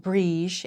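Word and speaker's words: Brigid: Bridget, pronounced Brige in Irish, that's the other way I heard it, is the Irish goddess of fire, water, healing, and medicine, poetry, and smithcraft.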